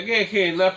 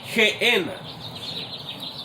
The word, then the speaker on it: Gehenna: que es la palabra Gehenna. En hebreo y en inglés así se pronuncia Gehenna, pero en español, debido a que cambian los sonidos, es G, que es una G de gato, Gehenna.